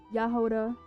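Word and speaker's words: Jahoda: You say it like Yahoda, not Jehovah. Yoda.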